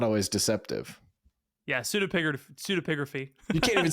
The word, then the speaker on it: pseudepigraphy: If you can pronounce this word, I will Venmo you $5 right now. PSEUDEPIGRAPHY. Wait, okay, hold on. Say it one more time. No. Pseudographical?